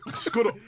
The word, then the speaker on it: Skudup: SKU sco. DU do. The po. So where's the P then? Skudup.